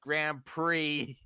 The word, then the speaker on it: Grand Prix: It's like Grand Prix. It's like, but it's spelled Prix.